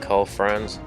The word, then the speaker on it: Karl Franz: So we're doing the Empire one first, Karl Franz, that's how you say his name.